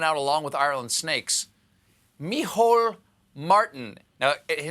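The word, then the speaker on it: Micheál: hair was driven out along with ireland snakes mihol martin now his name kind of looks like michael but it's pronounced mehol it's just one of those weird irish things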